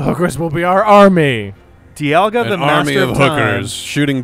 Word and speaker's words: Dialga: guide says D alga Dialga Dialga okay sorry Dialga with the stress in the middle yeah because English but